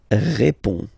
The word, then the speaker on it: réponds: Je réponds. Okay, so you can see that D and S here are not pronounced.